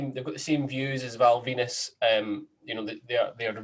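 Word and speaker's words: Val Venis: Val Venus, the guy, the wrestler who came out to a towel with a gimmick of a porn star whose name rhymes with penis, will not be in this year's Royal Rumble.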